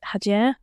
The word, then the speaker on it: Hacer: She'll be annoyed at me there, but you need to kind of roll the R a little bit. But it's actually spelled Hacer. So a lot of people will say Hacer, or ask how it's said, and I kind of like that.